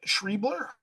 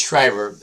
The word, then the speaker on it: Shriber: Uh, David Shriebler, sorry if I pronounced your name incorrectly. There's no L. Sorry. Yeah, it's Shriber.